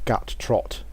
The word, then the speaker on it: Guttrot: This is Guttrot the Ogre Shaman, or actually it's Guttrot.